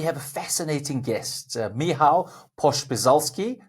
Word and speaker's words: Pospieszalski: Welcome everybody to Dad's Gone Crypto, and today we have a fascinating guest, Michał Pospieszalski. Did I get that surname correct? Yeah, you did. Oh, Pospieszalski, who's but for the first Pospieszalski?